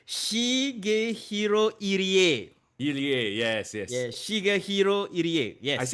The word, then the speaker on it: Irie: I just want to pronounce it correctly. Shigehiro Irie. Irie, yes.